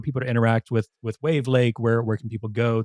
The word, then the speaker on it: Wavlake: to say it it's it's wave Lake yeah okay that's it's wav Lake um so it's de